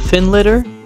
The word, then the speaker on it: Findlater: there's a castle to the west of it called Finlater. Or Findlater, as it's spelled.